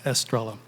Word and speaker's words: Estrella: is Estrella I I was raised non-hispanic so I dis pronounce it as Estrella um but I want